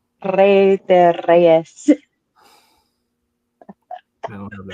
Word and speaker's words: Rey de Reyes: Huge thanks to Menace for pulling up and helping breaking down everything between surrounding Rey de Reyes.